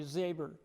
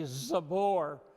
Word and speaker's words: Zabor: And when I introduce myself to new people, I say Zabor. But to those people who have known me for a while, I say Zabor. Because if I tell that to new people, they spell it with an E-R instead of an O-R.